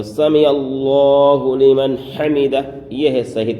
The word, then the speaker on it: سمع اللہ لمن حمدہ: زیادہ غلطی ہوتی ہے۔ تو سمع اللہ لمن حمدہ، یہ ہے صحیح تلفظ، سمع اللہ لمن حمدہ۔ اب کیا ہوتے ہیں؟